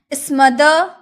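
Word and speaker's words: smother: स्मदर यहां जो र होता है ना लास्ट में जो र होता है ना हम अक्सर उसका उच्चारण कम करते हैं। हाफ में कर देते हैं। स्मदर र नहीं स्मदर नहीं स्मदर।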